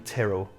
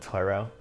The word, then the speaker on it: Tyrrell: Also, my nana was Irish, and it's fucking Tyrrell, not Tyrell. Yeah. Probably, like a bunch of people probably do pronounce it Tyrell, but the Tyrrell Corporation.